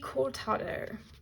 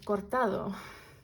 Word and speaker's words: cortado: the mocha so next up we have the cortado or cortado as it's supposed to be pronounced a deck that's balanced and objective so